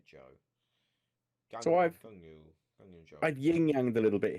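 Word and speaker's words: Zhou: joe as it's well they pronounced it joe on the broadcast so i'm just going to say joe ying yang the little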